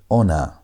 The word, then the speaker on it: honor: Think of Aleph like the English word honor. Honor. You have H in front of O there, and H is silent, but it's standing there.